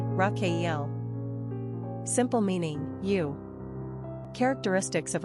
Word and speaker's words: Raquel: Spanish number of syllables two ranking popularity 690 pronunciation raakel simple meaning you characteristics of Rael uplifting truth